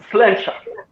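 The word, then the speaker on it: sláinte: It's slancha. Slasha. Okay? Slancha. Usually in Scotland they say slancha, and in Ireland it's just slancha.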